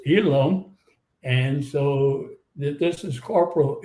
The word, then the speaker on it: Elam: And so they took the name Elham, which got pronounced Elam.